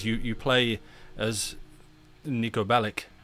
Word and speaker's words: Bellic: you play as Niko Bellik I I always feel like the pronunciation's wrong. I'm sure it should be Bellich.